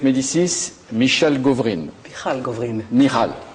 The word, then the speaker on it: Michal Govrin: Michal. Voilà, c'est la prononciation hébraïque.